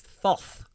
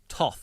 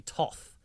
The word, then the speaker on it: Thoth: He refers to him as Thoth, which they were all making fun of because it just sounds like pork chops and apple thoth is the joke that Amanda Tapping made. But it's actually pronounced Toth, like it's with a hard H sound.